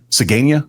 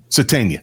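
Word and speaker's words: Sategna: Uh Sadena, Sadena, how do you say? Satena, thank you.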